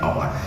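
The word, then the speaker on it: hour: I will back after an আওয়ার, একটু আগে বলেছি সাইলেন্ট এইচ এর পূর্বে এন বসবে, যেখানে আওয়ার এইচ এর উচ্চারণ কিন্তু সাইলেন্ট।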